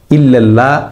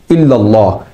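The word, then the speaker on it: إلا الله: লা ইলাহা ইল্লাল্লাহ, এখানে ইল্লাল্লাহ শব্দের প্রথম ললসংযুক্ততে আকার দিয়ে অর্থাৎ জবর দিয়ে পড়তে হয়, কিন্তু কিছু মানুষ এক্ষেত্রে আকার অর্থাৎ জবরের পরিবর্তে একার জের দিয়ে ইল্লাল্লাহ পড়েন, যা সম্পূর্ণ ভুল। এ শব্দের সঠিক উচ্চারণ হচ্ছে ইল্লাল্লাহ। দ্বিতীয় ললসংযুক্ততে ফোর করে অর্থাৎ স্বর মোটা করে উচ্চারণ করতে হয়।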